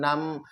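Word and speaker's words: numb: बी के ठीक पहले एम लेटर हो तो वहां पर हम बी को नहीं पढ़ते हैं जैसे कॉम नम थम ऐसे बहुत सारे लेटर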